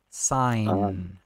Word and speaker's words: sign: que os ingleses fazem os ingleses não fazem sign fazem sign sem o o g é mudo para um para um